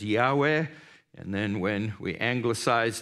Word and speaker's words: Yahweh: name of God and Hebrew Scholars think it should be pronounced as Yahweh and then when we